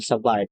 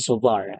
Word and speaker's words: Savart: and sovar so remember This is not biot and savart this is law of bo and sovar so we have here